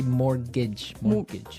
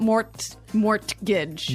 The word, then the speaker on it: mortgage: with a t yeah it has a t in it but you don't pronounce it you say morgage morgage so not Mort mortgage not morgage morgage morgage